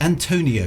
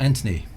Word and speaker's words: Antonio: It's Antonio, not Anthony. Antonio Bianchi.